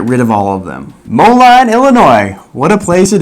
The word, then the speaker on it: Moline: I know it's pronounced Moline.